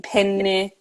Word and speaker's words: penne: need to make sure I linger a little bit longer on the n in penne uh so yeah there's